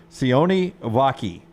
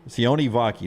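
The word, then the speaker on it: Sione Vaki: you to Utah's and I'm going to pronounce it for you here c vaki c vaki not not not his spelling that's the way I have to write it dispel it C vaki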